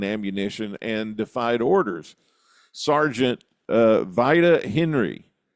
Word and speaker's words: Vida: Sergeant Vida Henry, it might be pronounced Vida, I'm not sure, it's V-I-D-A, Vida Henry.